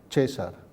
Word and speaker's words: Caesar: El diptongo Caesar, AE se ha convertido en E, entonces César.